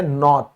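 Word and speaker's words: knot: हम क्या कहते हैं, नॉट, क्या बोलेंगे, नॉट। तो इन सब में के से शुरुआत हुई है और उसके बाद एन अक्षर है, तो ये क्या हो जाएगा, के साइलेंट हो जाएगा यहां।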